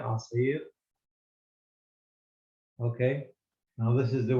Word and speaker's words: عصير: Now, this is عصير. Okay. With the open mouth, the ayn and the sad. I think I pronounced it well. عصير, not asir, عصير.